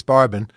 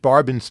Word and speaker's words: Barbon: It was a study of Nicholas Barbin. I think they just pronounced it barbin then since okay the family